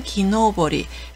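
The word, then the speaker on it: 木登り: 그리고 등산이라고 읽을 때는 짧게 읽어서 도장이라고 읽습니다. 훈독은 노보르입니다. 노보르라고 하고요. 그리고 나무 타기, 나무에 오를 때는 기노보리.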